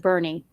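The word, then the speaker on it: Boerne: so well in texas there's a town that that is spelled like like born like the born identity but everyone there calls it bernie or the one that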